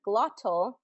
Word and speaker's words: glottal: So standard British, the word glottal, it would be glottal with that T pronunciation, glottal. And what a glottal stop is that halting airflow in your glottis, and your glottis is the back of your throat. And in standard American English, we pronounce it more of as a D, glottal, glottal, glottal. Okay, so those T's become D's to us.